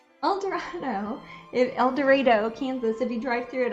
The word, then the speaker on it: El Dorado: an El Dorado Kansas it's pronounced El Dorado I'm not saying it wrong yes they didn't say El Dorado it's not El Dorados yes it's like Cairo Missouri yes it spelled like Cairo Nevada yeah El Dorado Kansas